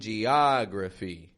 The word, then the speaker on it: geography: And notice how that in geography stretches out, right? In the same way as these other ahs. Different spelling. This one's an O. It's a short O. Geography. Just like thaw, caught, cause.